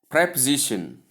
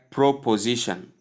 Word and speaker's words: preposition: Number 4, preposition, not preposition or proposition, as most people call it.